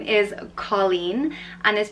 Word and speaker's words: Colleen: a cool name Nessa the next name is Colleen and this pronounced call in Colleen and Colleen and Irish means girl and the